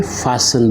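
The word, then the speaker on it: fasten: ऐड्स पेशेंट for students मिट्टी जो है यह साइलेंट है इसको फास्ट नहीं बल्कि फिसल बोलते हैं फैशन फैशन फैशन झांसी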